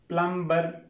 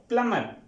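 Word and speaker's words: plumber: ही लग रहा है प्लंबर लेकिन यह प्लंबर नहीं होता स्टूडेंट्स यह होता है प्लमर प्लमर यहां पर बी साइलेंट होता है य नहीं पढ़ने में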